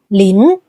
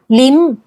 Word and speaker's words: Lin: For example, the surname Lin in Mandarin is pronounced " Lin," but when it's among the southern Chinese communities, the pronunciation changes according to their local dialect. Many Southern Chinese and Hokkien speakers pronounce it "Lim," while in Singapore and